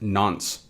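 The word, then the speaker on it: nonce: on from that we have this n nce pronounced nons so what is the nons a nons is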